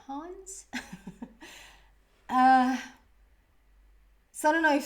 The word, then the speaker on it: Hans: say it in Swedish, I would say Hans, H-A-N-S, but I hear it at like Hans, like a little bit of a German, yeah, like Hans.